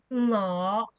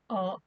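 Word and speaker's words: 我: start with saying I how to say I in Cantonese is no we use the no sound at the beginning like this but for Hong Kong people when we are speaking fast or we or we are lazy we will also say or instead next we will talk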